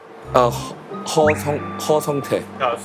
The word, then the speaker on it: 허성태: How do I pronounce it? Ho Songtae.